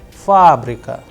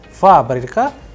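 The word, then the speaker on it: фабрика: a very specific example fabrica where you have multiple vowels isn't it so you have fabrica there the stress is on first ah that is why it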